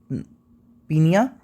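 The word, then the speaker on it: pnoea: जिससे हम बोलते हैं पी एन ओ आई ए इसको प्रोनाउंस करेंगे पीनिया तो पीनिया का मतलब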